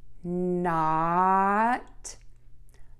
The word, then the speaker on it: not: To do this, touch the tip of your tongue to the back of your top front teeth. Let's put it all together. Not, not, not, not, not, not.